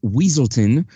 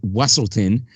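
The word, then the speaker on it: Weselton: and during the ball the Duke of weaselton or as he pronounces it wesselton tries to find out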